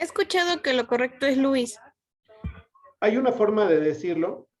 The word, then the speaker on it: Lewis: Entonces, pronunciar Lewis también es correcto, si no tengo la certeza que se pronuncia Luis.